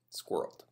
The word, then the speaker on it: squirrel: in a safe place it's also the longest word in the English language that has only one syllable squirrel okay I like I like